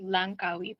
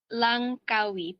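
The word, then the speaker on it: Langkawi: Sister Kate, uh, here is a state in Malaysia called Lancawi Po. Say that again. How do you say it? Lancawi po. L A N G K A Wii. Lancawi.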